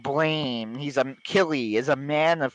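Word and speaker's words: Blame!: Yeah, it says blame, pronounced blam.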